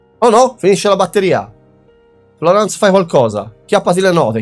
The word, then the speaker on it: Florence: Ma ha deciso che ha la pronuncia francese, quindi sarà Florence.